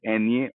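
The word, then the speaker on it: eñe: तो N crown, N with crown या N with विरगुलिया या एन विद टिल्डे, इसका नाम है एनए, और इसका प्रोनाउंसिएशन या इसकी आवाज आती है न्य, आधा न और य।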